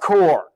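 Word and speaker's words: Kocher: Ladies and gentlemen, interim director of the Madera Arts Council, Jim Core, but it's not spelled Core. No. It's spelled K-O-C-H-E-R, but pronounced Core.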